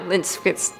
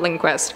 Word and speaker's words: Lindqvist: Lindquist. Stop saying Linquest. It's not Linquest. Chris thinks it's Linquest.